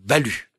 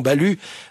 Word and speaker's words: Balue: veux parler d'un certain Jean balu oui ce nom s'écrit B l u e cet homme est né